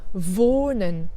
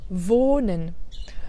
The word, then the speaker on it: wohnen: Donc tu vois, la voyelle qui est juste avant le H est plus longue. Par contre, le H n'est pas prononcé comme un H. Donc là, c'est un H muet.